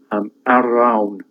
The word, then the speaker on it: Arawn: And when he goes out hunting in Glencoch, he meets Arawn, who is the king of Annwn. W is pronounced as 2 O's, Annwn.